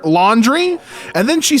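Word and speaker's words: Laundreigh: the Laundry. Laundry. L A U N D R E I G H. Laundry. Hello. Like the chore. Laundry.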